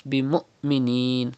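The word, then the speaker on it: بمؤمنين: It is hamza sakin, and hamza sakin is always pronounced with sudden pause. You have to read like this. Bi mu'minin. Do not say bi mu'minin, but bi mu'minin.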